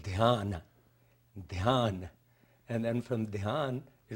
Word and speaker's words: Dhyan: When I was taught, in India it was called Dhyan.